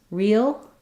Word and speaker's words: real: the uh e e I have a little bit of a linking with a Y sound there so it may help you if you're finding that it's difficult to pronounce real real naturally and smoothly